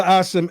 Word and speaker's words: Asim: So brother Asim, what Ali is explaining to you, it's pronounced Asim. Asim, my bad, Asim.